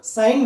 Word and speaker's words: sin: Okay, now but we are going to pronounce it as sine only. Okay, now it is short noted as SIN, but we have to pronounce it as sine only.